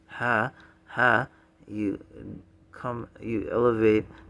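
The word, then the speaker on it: ح: is the ha ha ha h but it's uh the ha comes from more near the chest in the throat so if you divide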